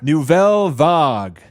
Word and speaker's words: Nouvelle Vague: That's my French accent right there.